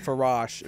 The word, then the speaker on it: Verzache: you guys are good ferrachi is my excuse for if I get sued but like but for rosh is how it's pronounced yeah what is that